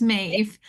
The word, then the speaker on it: Maeve: So, my name is pronounced kind of like Dave, just with an M. So, it's Mave.